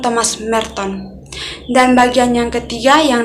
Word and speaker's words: Thomas Merton: Di situ teman kita menyebutkan Thomas Mentor, bukan Thomas Merton. Dan bagian yang ketiga yang dapat saya berikan yaitu untuk Thomas Merton sendiri, diharapkan teman-teman sedikit mencakup bagaimana Thomas Merton bisa meninggal dan apa